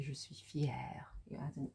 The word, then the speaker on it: fière: So I would say je suis fière. You add an R, sorry, you add an E and there's an accent over the C, which changes the way that you pronounce it to est fière.